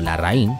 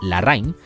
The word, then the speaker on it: Larraín: había mucho problema convencional el apellido larraín son la gente solía más bien pronunciarlo la Rain muy probablemente en el